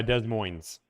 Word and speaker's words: Des Moines: Uh Des Moines.